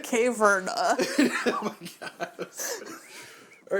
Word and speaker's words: Caverna: Caverna? Oh, okay. That you're trying to make. Cave? Rana? No, you had it right the first time. Caverna.